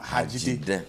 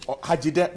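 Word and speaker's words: Hadzide: Yes, but the proper rendition of my name is Pius Enam Hajide. Hajide. That's right. Great. Thanks so much for the correction. Hajide.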